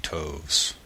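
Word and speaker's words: toves: that has often been asked me how to pronounce slyy toes the eye in slyy is long as in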